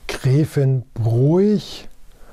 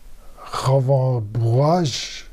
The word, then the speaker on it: Grevenbroich: Gräfenbroich, Gräfenbroich, Gräfenbroich. Auch mit der Buchstabenkombination OI haben wir so ein bisschen unsere Probleme. Darunter muss diese Stadt ein bisschen leiden.